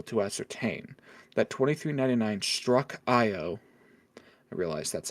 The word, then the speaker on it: Io: we've been able to ascertain that 2399 struck IO I realize that's how it's pronounced was damaged and was unable to escape